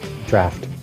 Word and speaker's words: Draught: Draft. Draft? It's actually pronounced draft, but they spelled it different because they're fancy. A bitter What? drought.